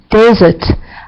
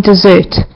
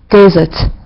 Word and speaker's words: desert: this image here, as desert. I know I heard some of you saying dessert, which is a food. So we pronounce it desert.